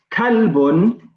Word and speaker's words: kalbun: And be careful here because kalbun, okay, starts with the letter kaf, okay, which is pronounced as ka.